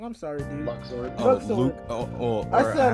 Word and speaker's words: Luxord: I probably said his name wrong. I'm sorry, dude. Luxord.